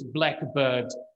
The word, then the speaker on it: blackbird: this is a notorious Blackbird uh pattern stress pattern so on the one hand we've got blackbird so if pronounced with the stress from the first part it is a type of bird which is translated into